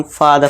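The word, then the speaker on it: father: आर का silent rule क्या है, यदि किसी वर्ड के एंड में आर हो तो आर साइलेंट होगा। ठीक है दोस्तों, अब यहाँ देखिए, इसे हम फादर नहीं पढ़ेंगे, इसे हम फादर पढ़ेंगे, लास्ट में आर है।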